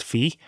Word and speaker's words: Fi: example of the game fee I hear people pronounce the name is v but I'm pretty damn sure it's fee I think Hyrule warriors says 5 but [